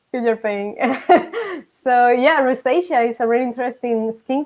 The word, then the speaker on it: rosacea: How about the Rosalea? Rosalia? I don't know how to say it. No, Yeah. When you get rose, like when you get pain. rosacea.